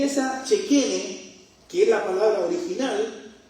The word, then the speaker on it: Shekinah: Hay una palabra que en el idioma antiguo hebreo se usa y se pronuncia Shekene. Nosotros la conocemos como la Shekinah, pero la Shekinah es